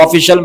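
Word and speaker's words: official: अब देखिए ऑफिशियल हम लोग ऑफिशियल इस्तेमाल करते हैं ना बहुत ज्यादा इस्तेमाल करते हैं ये ऑफिशियल यानी कि सरकारी अधिकारी सरकारी होता है ना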